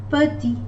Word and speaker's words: petit: Petit, we finish it until letter T, I, and the letter T is not pronounced. Petit.